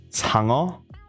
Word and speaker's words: Sangeo: Yes, I am Korean. It is pronounced Sangeo.